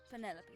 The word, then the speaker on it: Penelope: yeah officially yes but I never can be bothered with all four syllables of it Penelope sounds a little ostentatious